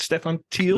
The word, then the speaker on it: Stephan Thiel: Stephan Thiel? That's right. How I pronounce it?